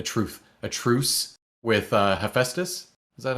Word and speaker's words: Hephaestus: a truth a truth a truce with uh hephaestus is that how you say it right yes